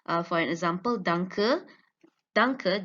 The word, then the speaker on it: danke: Danke, the first syllable is stressed, and in it includes all the highest pitch, longest duration, and maximum intensity.